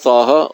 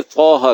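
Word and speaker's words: طٰهٰ: پھر طٰہٰ کہیں گے۔ تو طٰ علیحدہ ہے، تا علیحدہ ہے۔ تا ہے الف اور با اور تا، اور طٰ یا طٰ اور ظا، یہ عربی کے پروننسیشن ہے، تلفظ ہیں۔ عربی کا تقاضا یہ ہے کبھی تلفظ صحیح ہو، تو یہ جب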